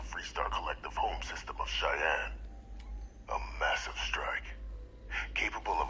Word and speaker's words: Cheyenne: Collective home system of Cheyenne. A massive strike, capable of obliterating Freestar Central Command. I was watching some video and they pronounced it Cayenne.